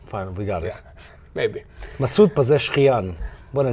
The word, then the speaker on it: Masoud Pezeshkian: Masoud Pezeshkian.